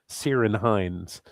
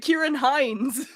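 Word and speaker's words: Ciarán Hinds: Well, it shouldn't look like that if you're supposed to pronounce it Kieran Hines. Well, he's Irish. That's how they pronounce it.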